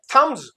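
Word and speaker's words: thumbs: दूसरा सिलेबल आएगा तो ये थंब्स ये बी साइलेंट तो थंब्स अच्छा ये एस जो है ये जेड बनेगा क्योंकि जो पहले से देखते आ रहे हैं।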